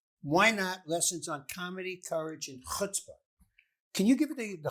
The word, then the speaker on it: chutzpah: Chutzpah. Sound like you about to spit.